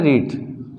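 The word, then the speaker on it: read: पढ़ने को मिलता है रीड। अब देखो रीड क्यों, क्योंकि रीड के तीनों फॉर्मेट रीड ही होते हैं, बोलते सेकेंड फॉर्म को रेड, रीड रेड रीड, but spelling इसकी क्या है, सेम है।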